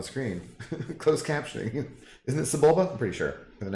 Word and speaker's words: Sebulba: I feel like it's almost Zibulba from Star Wars, but I don't know if that's how you would spell that, so.